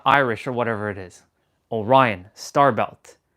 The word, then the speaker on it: Orion: Orion.